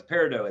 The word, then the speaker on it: peridot: peridot HTM ever done no it's peridot it's like pronounce it peridot peridot okay burned out can be